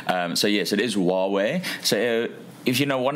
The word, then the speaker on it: Huawei: so not not not H hu away I pronounced it as Hue away for for years so uh I think WWE